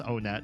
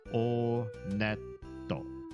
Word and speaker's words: Onet: It is pronounced Onet. I did check the Japanese pronunciation. And in Japanese, when you go to this first town, they pronounce it Oneto. Oneto. So, Onet.